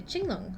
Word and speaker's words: Qinglong: A chingong, I think, is how you pronounce the the Q is a makes a ch sound in Mandarin.